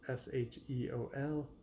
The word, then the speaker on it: Sheol: And their album, not sure how to pronounce it, maybe Sheol or Sheol. It's Sheol.